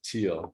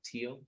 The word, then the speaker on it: Thiel: read and Peter Thiel how do I pronounce his name Dina I would probably pronounce it teal teal yeah uh interesting guy